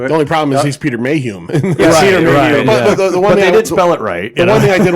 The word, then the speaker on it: Mayhew: Fisher Anthony Daniels c-3po Peter Mayhew which is the correct way to pronounce his name yes r2d2 as r2d2 James